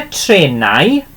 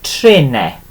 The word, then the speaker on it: trenau: Now then, so either trenau for trains, or we can pronounce it as trene. Okay, I personally pronounce it as trene. Okay, and again, both ways are absolutely fine, but this is the pronunciation underneath there for you.